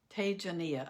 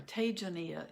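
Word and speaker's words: Tejaniya: and ash it is a jania tagenia i'm sorry tajania is a pronunciation t-e-j-a-n-i-y-a and i think if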